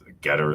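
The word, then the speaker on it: Gettr: that's uh a twitter alternative oh yeah about getter yeah no it's it's uh been waiting for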